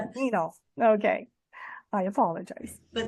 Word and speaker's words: Neno: Nano, welcome to the Reva Experience podcast. I'm so glad you're here. Thank you. And my name's pronounced Nino. Sorry.